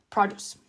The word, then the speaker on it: produce: Se escribe produce, produce. Como el verbo producir, to produce, pero en este caso se pronuncia produce.